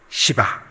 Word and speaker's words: 헵시바: 햇밥이라고 하셨나요? 헵시바. 따라해 봅시다. 헵시바. 또 졸다가 좀 일어나신 분들은 목사가 강단에서 햇밥이라고 하더라니까 벌써 햇살 나왔나? 왜 햇밥이라고 착각하시면 안 됩니다. 헵시바. 그리고 그 땅을, 이 발음을 잘 하셔야 돼요. 뿔라가 아니라 뭐라고요? 뷰라라 아니에요. 헵시바요, 너를 헵시바라 새 이름으로